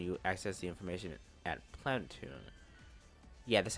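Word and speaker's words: Planeptune: The event will occur when you access the information at Planetune. Yeah, that's how you pronounce it, Planetune, okay?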